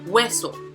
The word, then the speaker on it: hueso: Next, tenemos hueso. This has two syllables, and just like what we saw in the last example, the prosodic accent is going to be on the first.